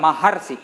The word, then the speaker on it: महर्षि: महर्षि, तो हमने बताया आ के साथ जब री मिलेगा तो अर का उच्चारण होना चाहिए। ठीक है, अब देखो महर्षि जब कहते हो तो अर का उच्चारण होता है, महर्षि, अर्षि, महर्षि, तो इसका मतलब ये